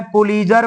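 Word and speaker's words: Pulitzer: उनका नाम है पुलीजर प्राइज। क्या नाम है? उनका नाम है पुलीजर। पुलजर लिखते हैं लेकिन टी साइलेंट है। बोलना है पुलजर।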